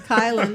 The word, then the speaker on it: Kailin: So, Kailin and Malachi, welcome to the show. Welcome. We're just keep going. Thank you. Howdy. So, we're going to go ahead. What? It's Kailin. Oh, thanks, Kailin.